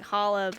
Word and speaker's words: challah: All I can think of is, the only bread that starts with C is challah, but you don't say the C.